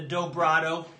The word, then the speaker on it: Dobrado: The Dobrado rhymes with Furtado, not for any particular reason.